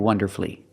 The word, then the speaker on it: wonderfully: The U is silent in these three words: masterfully, beautifully, and wonderfully.